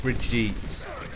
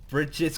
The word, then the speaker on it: Brigitte: It's meant to be Bridget, not Brigitte, or whatever.